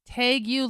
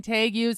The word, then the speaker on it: tegu: Tegus lizards is what I said. It's spelled t e g u.